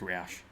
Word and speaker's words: Roush: key fob you know Johnny said it's pronounced rash rash Roush - Talia Troy -